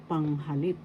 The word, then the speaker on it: panghalip: So, pronoun or panghalip in Tagalog. Pronoun is panghalip. First syllable, pang. Second syllable, ha. Third syllable, lip. Panghalip. The first syllable has the accent.